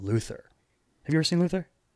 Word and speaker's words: Luther: Is it Luther or is it Lufa? It's Luther, but okay. That's how they say it. Lufa. Like the thing you use in the shower.